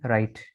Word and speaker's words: right: ठीक है, RIGHT, यहाँ भी जी और एच एक साथ है तो ये साइलेंट है। RIT राइट। ठीक है, RIT रिट नहीं होगा। RIT राइट।